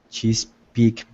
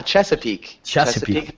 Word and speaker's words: Chesapeake: reading about this play probably I'm going to mispronounce it but it's like chees Peak ah Chesapeake Bay chap Bay yeah I I've been reading